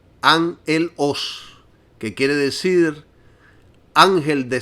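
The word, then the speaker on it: ἄγγελος: Y esta palabra es agelos y se pronuncia angelos, que quiere decir ángel de Satanás.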